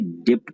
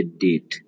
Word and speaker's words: debt: आप ये देख लीजिए वर्ड DEBT, कितने लोग इसे डेप्ट पढ़ते हैं, जबकि बी साइलेंट होता है तो पढ़ते हैं इसे डेट।